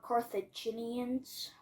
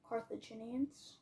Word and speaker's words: Carthaginians: were I don't think you know how to pronounce this they were carthaginians carthaginians carthaginians car Cara car car car car add